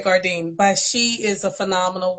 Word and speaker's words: Gourdine: I love how she pronounces it because it sounds like French or something. But it is. Yes, I say Gourdine, but she is a phenomenal woman.